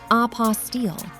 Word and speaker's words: apostille: It is pronounced apostile and it is the ultimate bureaucratic hurdle you never knew existed.